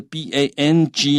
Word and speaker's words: bang: 好，那这是跟安全的安声一样，但是 B-A-N-G 呢，那个 N-G 你那个舌头是开着的。